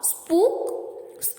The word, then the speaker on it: spook: The letter group OOK is mostly pronounced with a short U. As in put, exceptions are spook and snooker.